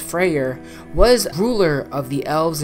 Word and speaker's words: Freyr: which was phrase brother Freya's brother which is pronounced Freyr was ruler of the elves and Alfheim where